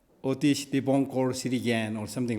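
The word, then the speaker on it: অতীশ দীপংকর: So, Atisha Dibamkara Shirijana in Bengal, Bengali, it's called Atisha Dibamkara Shirijan, but the proper Bengali pronunciation is Otish Dibonkor, something like that. Otish Dibonkor Shirijan or something like that.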